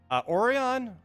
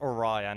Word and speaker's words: Orion: of these values um oron or Orion you guys always say I keep saying it wrong it's Orion I keep calling him oron oron oros Orion uh